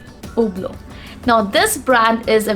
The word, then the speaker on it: Hublot: it is pronounced as oblo the sound of edge is absent in these guys even the sound of t is not there it's simply oblo now this brand is